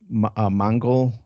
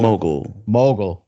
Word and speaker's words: mogul: Yeah, he's a real estate Mongol. I don't know what you call it, Mongol or Mogul. Mogul. mogul, real estate mogul.